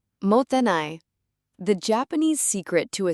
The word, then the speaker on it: mottainai: Now, you might be wondering how to even pronounce this word. It's Mottainai.